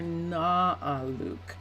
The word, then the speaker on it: Arnaaluk: for just a second so a r n a a l UK or na Luke but it sounds it's probably my mistake in the way that I pronounce it it sounds like I'm saying an R it's recommended for the